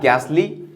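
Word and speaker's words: ghastly: इसका प्रोनंसिएशन होता घोस्ट लेकिन ये घ नहीं होता बल्कि गा होता है तो घोस्ट या गैसली टी साइलेंट है यहां पर गैसली या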